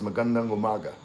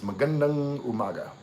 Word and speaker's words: magandang umaga: Like good morning is magandang umaga. Like a lot of foreigners be saying like magandang like it's magandang umaga.